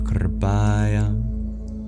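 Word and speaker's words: कृपया: Well, in Sanskrit, the letter R is considered a vowel. This is known as the vocalic R. So you roll your R directly from the K to the P.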